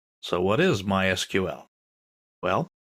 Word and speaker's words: MySQL: so what is MySQL well it's a version of SQL we'll talk about that in a minute people in the know don't say MySQL they say my SQL that's generally how it's pronounced in SQL is usually